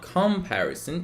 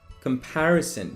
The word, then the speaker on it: comparison: american next one is not comparison it's comparison you need to put the stress on path so comparison the next one